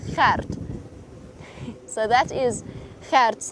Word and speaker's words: Gert: It's that G sound. So it's not Gert, we don't say it Gert, it's Gert. And you have to roll your R slightly to get it absolutely right. Gert.